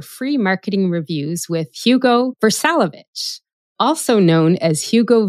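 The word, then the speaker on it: Vrsalović: one of our free marketing reviews with Hugo ver salovich also known as Hugo V for very good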